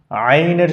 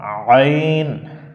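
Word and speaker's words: عين: কিন্তু অনেকেই ভুল করে আইনের সঠিক উচ্চারণ হচ্ছে হলকের মধ্য থেকে একটু চাপানো আওয়াজ হবে একটু চেপে পড়তে হয় যেমন আইন আমরা একটু ট্রাই করি কি হবে আইন তাহলে কণ্ঠনালীর উপরে একটু চাপ দিয়ে তারপরে পড়তে হবে আচ্ছা আমরা একটু এখন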